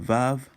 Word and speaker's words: Vav: But Vav is another way, so I'm going to write that down here. So, of course, it's pronounced as W, but in some dialects, including modern Israeli Hebrew, you'll have V.